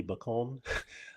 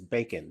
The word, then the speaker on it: Bacon: at first I thought I thought she was a French actress so I pronounced her name Sophie Bon until I realized no it's bacon that's Kevin Bacon's daughter